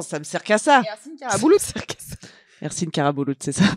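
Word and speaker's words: Ersin Karabulut: Hercine carabouout. Ser Hercine Carabouout, c'est ça. Voilà, ça s'écrit comme ça prononce.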